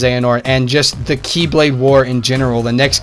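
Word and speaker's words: χ-blade: like clash against that they can reforge the x-blade I know it's pronounced Akai blade or Keyblade but you know for confusion purposes I'm going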